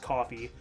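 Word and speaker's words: Ko-fi: I do have a uh a Kofhei account though, or I guess it's pronounced coffee. Uh because the idea is you're buying somebody a coffee.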